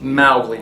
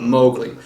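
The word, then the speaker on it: Mowgli: in the comment section yes I know it's pronounced mly not mowgly but I've been calling him that for years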